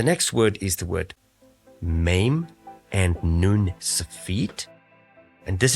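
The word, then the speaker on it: מה: pronoun means what okay pronounced as ma in Hebrew that same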